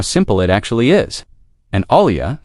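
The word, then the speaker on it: olla: An olia spelled o l a and generally said the same way it is spelled is an unglazed clay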